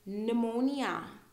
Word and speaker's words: pneumonia: so here receipt actually here we have two silent letters i n p receipt okay um and then pneumonia pneumonia you don't want to get pneumonia it's